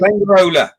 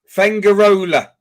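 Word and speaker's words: Fuengirola: Fengarola. How do you say it? Fengarola.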